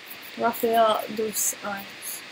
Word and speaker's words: Rafael dos Anjos: Rafael dos Anjos.